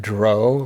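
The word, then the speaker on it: drow: it like so oh and Dr a lot of people still call it Dro like Crow oh I've never heard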